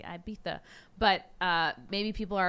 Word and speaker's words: Ibiza: break destinations cancun maybe ibiza i'm saying it wrong it's supposed to be ibiza but uh maybe people